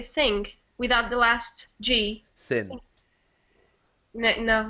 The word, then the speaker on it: sim: so it's hard because we don't pronounce the last em so we don't pronounce it as seemed no one says seem ok we say sing we do something after